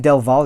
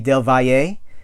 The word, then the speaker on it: Del Valle: commentary by David dilwale which is he pronounced his name del Valle yeh right because I would think it would be dilwale but it's not its